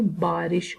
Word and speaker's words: بارش: ہم اسے عام طور پر بارش کہتے ہیں، تو یہ صحیح جو اس کا تلفظ ہے وہ بارش ہوتا ہے.